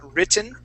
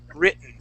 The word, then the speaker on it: written: for example britain okay we hide those t's we're going to hide the t's as well so these t's are going to be silent okay so let's practice this word so instead of saying written we're going to say written try that awaken okay